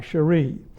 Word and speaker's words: Cheri: He is Father Fernand Cherie, and I'll spell it C-H-E-R-I, Cherie.